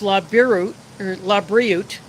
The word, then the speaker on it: LaBriute: I pronounced it wrong when I opened up the box that I got from Mike Crasher in the video. But it's LaBriute. And they took over the